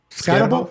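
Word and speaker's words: Skattebo: Cam Scatebo. How do you pronounce that? Deebo. Scatabo. Okay, Scatabo. Boy, I read that wrong.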